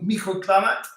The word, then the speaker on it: microclimat: Quelle chance de vivre dans la Charente-Maritime avec son microclimat. Climate, you don't pronounce the T there.